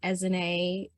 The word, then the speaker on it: Ezinne: My name is Ezinne. Ezinne rhymes with resume, attempts to help people remember it, and I'm just very delighted to be here with you all today.